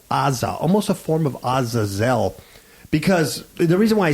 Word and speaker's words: Azazel: zel or Aza and it even almost sounds like um Isel sometimes like when Obama was say Isel but Azazel which is which is